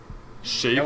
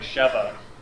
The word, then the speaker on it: Sheva: Shava? Nope. Is that how you... Are you okay? I don't know. We've been Chris saying isn't like Sheva. We've been saying it wrong the whole time.